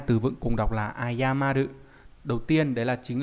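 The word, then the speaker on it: 謝る: Chữ này đọc là ayamaru và mang nghĩa là xin lỗi, đồng ý.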